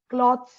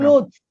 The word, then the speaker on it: clothes: See, you said that clothes pronunciation, cloths, you said, no? Cloths. Yeah, ma'am. Clothes. You have to It's clothes, pronounce as clothes.